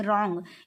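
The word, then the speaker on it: wrong: बोला जाता है इसमें रंग इसमें डब्लू साइलेंट है डाउट इसमें बी साइलेंट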